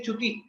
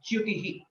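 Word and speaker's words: च्युतिः: Similar to Jyotisham, Chyutihi again is a combination of Chakara and Yakara, and most of the times we say Chuti and we don't correctly say Yakara, we don't pronounce it rightly.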